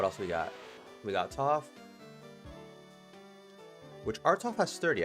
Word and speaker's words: Toph: Toph the Earth Bender, because it rhymes with tough.